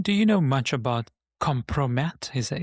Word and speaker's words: kompromat: Ron, do you know much about kompromat? Is that Is that how you say it? K K O M P R O M A T, kompromat.